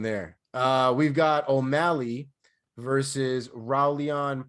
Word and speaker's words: Raulian: We've got O'Malley versus Raulian Paiva, I believe is how his name is pronounced. Haulian or so Brazilian, probably Haulian.